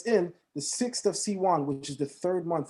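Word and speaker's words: סיון: The month is called Sivan, S-I-V-A-N. In Hebrew, it's pronounced S-I-W-A-N, Siwan.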